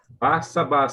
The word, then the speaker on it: Barsabás: Como é que pronuncia esse nome correto? Tem Barsabás ou Barsabás? Como é que... Barsabás, segundo a minha tradutora.